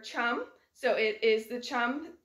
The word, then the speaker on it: chum: Our thumb rhymes with the word chum, so it is the chum or the dog salmon for our thumb.